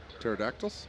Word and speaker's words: pterodactyls: Pterodactyls? Yeah, P is silent.